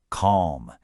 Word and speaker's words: calm: Notice the L is silent. Calm.